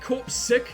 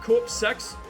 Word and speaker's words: Corpseick: Oh, they pronounce it corpse sick instead of corpse sex.